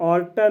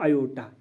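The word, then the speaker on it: aorta: इसको हम ऑर्टा नहीं पढ़ना, इसकी जो प्रोनाउंसिएशन है वो है आयोटा।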